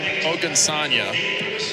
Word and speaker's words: Ogunsanya: And because it's Ogunsanya, is that pronounced correctly? Correct, yeah. So I got both Nailed names it.